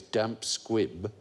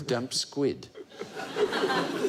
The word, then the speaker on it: damp squib: most common misquote is mispronouncing the phrase damp squib as damp squid it it was a